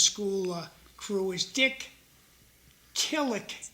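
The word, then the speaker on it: Killik: The guy who runs the Rogers school uh crew is Dick Kllik. K I L L I K Kick. I was pronouncing his name wrong.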